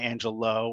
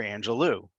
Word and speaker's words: Angelou: but ask yourself beforehand is it angelo or angelou now that you've voted hello my name is maya angelou it's a very beautiful